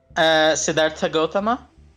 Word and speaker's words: Siddhartha Gautama: There are Did I quite a pronounce few. that correctly, by the way, or did I fuck that up? Siddhartha Gautama.